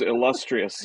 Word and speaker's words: illustrious: word yeah we can use illustrious yeah heavy emphasis on the second syllable but um lot happening